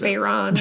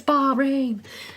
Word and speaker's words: Bahrain: Amber's been mispronouncing that all week. Bahrain, I've been saying. Which is not Not Bahrain. It's Bahrain.